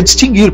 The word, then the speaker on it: distinguir: gente que pronunciado na muita gente fala distinguir o certo é distinguir porque sempre o dicionário grafou essa palavra sem trema hoje o funcionário continua gravando sem trema porque o treino desapareceu mas coloca lá uma notinha avisando a quem foi e não pronuncia o a mesma coisa ocorre